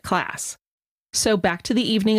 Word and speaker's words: Klaas: heard about this case, everybody pronounced the last name as Clauss. However, since then, we have access to YouTube videos, and her father has been on these videos several times, and he pronounces it class.